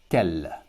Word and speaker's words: quel: But all of them are pronounced quel.